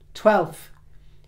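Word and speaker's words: twelfth: Not sixth or fifth or 12th. There is an F in 12th.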